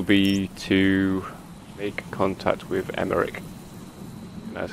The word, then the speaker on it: Emmerich: The next mission will be to make contact with Emmerich. That's how you pronounce it, and he's all the way up there.